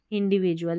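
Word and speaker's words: individual: और ये है INDIN, INDIDVIV, और ये DUAL होता है, इसको जुअल पढ़ते हैं, इंडिविजुअल यानी कि व्यक्ति।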